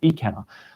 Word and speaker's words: Ikenna: and i'll get to ikenna in a second it's not i cannot i pronounced it wrong in that video it's ecanna i'll get to him